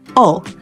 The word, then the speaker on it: 오: El 5, que en coreano se pronuncia O, forma parte de esta construcción.